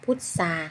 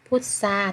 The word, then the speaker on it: พุทรา: ออก เสียง ซ โซ ค่ะ ต่อ ไป ค่ะ พุทรา ค่ะ พูด สาร นะ คะ เอา พุทรา ทร ออก เสียง ซอง อนุ พุทรา ค่า ต่อ